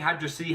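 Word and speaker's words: Hydrocity: That's right, I'm saying Hydra City how it's spelled.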